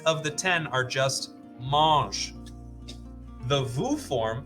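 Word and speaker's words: mangent: sound the same because S at the end of a verb is silent and NT at the end of a verb is also silent so eight of the ten are just mosh the Vu form sounds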